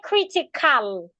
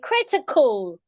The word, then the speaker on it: critical: Such words, the letter A there is usually being reduced into a schwa. In fact, sometimes it seems like the A is silent. So we don't say critical, you say critical, critical, national, hospital, etc.